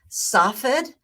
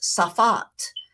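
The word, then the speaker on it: Tsfat: on to the Mountaintop city of soffit some call it soffid it was pronounced safat in Hebrew I believe is it's fought almost like there's no saw at the beginning spot in my blog I spelled it t-s-f-a-t so there are various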